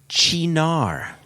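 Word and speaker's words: Cynar: little pronunciation assistance again c-y-n-a-r is pronounced chinar there we go there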